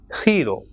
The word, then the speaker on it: giro: So word like GENIO will be pronounced as genio, and GIRO will be pronounced as hero.